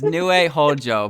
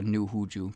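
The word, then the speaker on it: Nue Houjuu: He's pronouncing the new fret wrong. I know what I'm doing. It's Nue Hojo, but I just call her New Huju because well, I'm very funny, of course.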